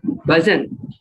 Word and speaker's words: bhajan: For example, bhajan.